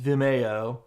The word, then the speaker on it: Vimeo: get over there and yes I know it's pronounced Vimeo but that sounds so pretentious and I told